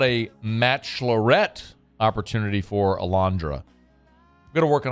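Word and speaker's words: Alejandra: said how about a match Lorette opportunity for Alandra going to work on how to spell Alandra as well um spell it for the people real quick well it's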